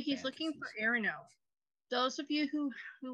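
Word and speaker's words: Iarno: have heard of him did you say his name is urinal you're no oh sorry that's what I heard too I was just gonna say that they were very cruel parents involved Aaron no i-a-r-n-irono and I'm still learning the pronunciation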